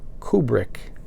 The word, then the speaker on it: Kubrick: The reason I call him Kubrick is because I saw an interview with his daughter some years back, and they announced her as Kubrick, and they asked her if that was the proper pronunciation, and she said it's actually pronounced Kubrick, but so many people call her Kubrick that she just goes with it.